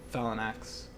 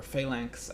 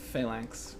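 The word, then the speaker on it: Phalanx: archers that is likely Fallon axe um or failance. I think I realized I was pronouncing it the whole wrong the wrong the whole time. I think it's fail failank.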